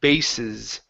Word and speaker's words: bases: Um, and your last one here is the word bases. Okay. So, you've got the Z and the S flipped around. So, the first S is a uh unvoiced S. The last one is a voiced S.